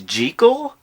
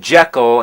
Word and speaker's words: Jekyll: you know that the proper pronunciation is jekyll that's what the author of the novel insisted robert louis stevenson but